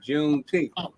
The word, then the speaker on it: Juneteenth: And then they explained how they pronounced it, Juneteenth, 19th.